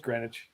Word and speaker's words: Greenwich: Okay, yes, it is pronounced Greenwich.